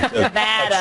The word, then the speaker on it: Nevada: Nevada.